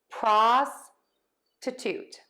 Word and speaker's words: prostitute: Prostitute, prostitute, prostitute, prostitute. So again, stressing syllable 1 in both of these words, unstressed middle syllable, secondary stress on that last syllable.